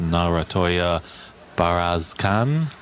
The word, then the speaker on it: Narantuya Bayarsaikhan: Mink Nutcharut against Narantuya Bayarsaikhan. If I'm pronouncing that correctly.